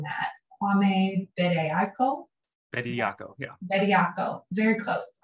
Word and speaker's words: Bediako: I'm going to say the last name wrong, Matt. Kwame Bediako.